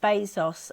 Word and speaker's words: Bezos: It's pronounced Bezos and he's the He's the CEO of um Amazon.